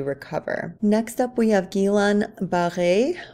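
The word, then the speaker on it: Guillain-Barré: next up we have gilan b or B I think is how most of us pronounce it syndrome this is a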